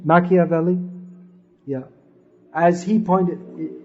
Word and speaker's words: Machiavelli: ploy because as machiavelli is that the right pronunciation machiavelli yeah as he pointed he pointed out